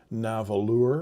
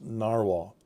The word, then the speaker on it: Nahvalur: It's Icelandic spelling for narwhal, and it's pronounced narwhal.